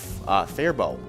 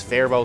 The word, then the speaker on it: Faribault: Oh, and Steve from Our Place on Third, and I'm trying to think of how it was actually supposed to be pronounced. Faribault. Yes, Faribault.